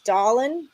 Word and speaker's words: Dahlin: back to hockey long shot NHL future Rasmus dahlin that's how you say it don't tell me it's not for the Sabers to win the Norris plus 10 000.